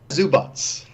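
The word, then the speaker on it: Zubac: right get beat says zu BOTS okay is he by bomb he says zu BOTS like an embodied Eva exactly yeah yeah yeah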